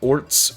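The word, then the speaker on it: orz: despair dejection or frustration there's no set way to pronounce it people may pronounce it as orts ORS or ORS that works too but I don't think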